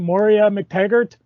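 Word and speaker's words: Moira MacTaggert: Moria McTaggart?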